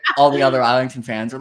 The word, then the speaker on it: Islington: to say his name so I went and I watched that interview and he says isington so okay it's isington isington that's pretty definitive yes we're gonna we're